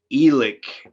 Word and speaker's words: Alex: and you tell me the proper way to pronounce a tall town called alex said like elic and i don't argue